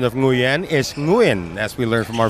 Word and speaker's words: Nguyen: And the correct pronunciation of Nguyen is Nguyen, as we learned from our friends from Vietnam.